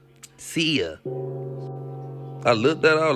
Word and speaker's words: Cia: She said, "Cia." I looked at her like, "Cia, how you spell that?" She was like, "C I A but not like the CIA."